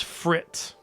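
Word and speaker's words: FRITTTE: the shelves all right it's frit that's how you say it like fret your money away what's the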